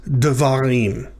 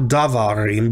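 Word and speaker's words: דְּבָרִים: Davar becomes devarim, right? So there's a shava under the daled there at the beginning. Devarim, not davarim, but devarim.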